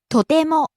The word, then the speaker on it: とても: 便利、 Next, とても、 very. とても、とても、 Rises on the second syllable te and stays high.